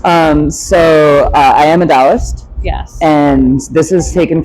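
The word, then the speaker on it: Taoist: feel like that's a little Universal not just Dost yes did I say that right I'm so bad with it's usually pronounced toist in the US it's with a t yes but it's pronounced DST and in my head I see it is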